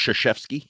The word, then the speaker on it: Krzyzewski: It's actually pronounced Krzyzewski.